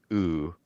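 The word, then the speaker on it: Öoo: It's OML O with an umlot over the top. So the two dots and then O. But I guess it's just pronounced ooh according to the developer.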